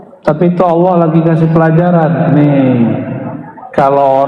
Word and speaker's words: Allah: Lailahaillallah ya bener nggak Allah Allah Allahu itu bukan lagu India ya Allah itu dzikir Masya Allah saya orang sudah bacanya Allah itu bukan dia lam ketemu lam Allah harus disambung bukan mati Allah secara huruf